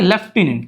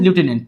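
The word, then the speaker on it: lieutenant: Spelling में अगर अपन direct spelling के अनुसार पढ़ क्या होगा? ये लटिनेंट होगा। पर ये लेफ्टिनेंट पढ़ा जाता है। ध्यान रखिएगा। ठीक है?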